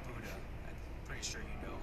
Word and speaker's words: Buda: It's pronounced Buda.